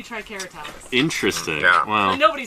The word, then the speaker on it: Triceratops: If you go back to the original Latin pronunciations, all C's are hard, so it should be Triceratops.